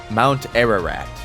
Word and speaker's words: Mount Ararat: Mount Ararat. There we go. That's That's how you pronounce that.